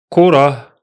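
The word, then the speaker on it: كرة: The first one is pronounced as Korah, Korah, Korah. Again, don't stretch the H sound because it's on sukun.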